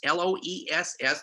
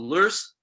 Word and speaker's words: loess: silt, or loess, L-O-E-S-S, the one geological term that has more pronunciations than any other ones. If you go back to Germany, windblown silt is called loess. If you go to the south, we call it loess or loess.